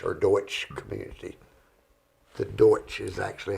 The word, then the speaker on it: Deutsch: okay that means the black forest of the Dutch or Deutsch Community the Deutsch is actually how it's supposed to be pronounced it's not really Dutch but uh Deutsch